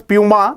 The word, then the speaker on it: Puma: One of the students is saying that there was a question related to Puma as well. Yes, many people somehow pronounce it as Puma, but that is Puma.